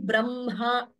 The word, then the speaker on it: Brahma: Note the pronunciation brahma. So whenever words like Brahma are pronounced, it seems the nada, it should be pronounced from the chest, uraha. So Brahma, that has to be pronounced correctly. Please don't say Brahma, Brahma.